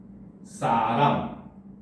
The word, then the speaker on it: 눈사람: 그러니까 이 경우는 긴 소리가 그대로 적용이 돼서 눈사람 이렇게 발음이 되는 겁니다.